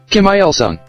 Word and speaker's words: Kim Il-sung: So if that day turned out to be well, how do you pronounce it? Kim Il-sung.